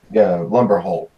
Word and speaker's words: Lumberholt: Lumberholt. I'm saying it wrong on purpose every time. Yeah, and he's correcting you. Yeah, Lumberholt. Very good.